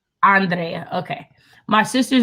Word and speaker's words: Andrea: Andrea.